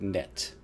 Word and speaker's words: knit: The K is silent, you dummy.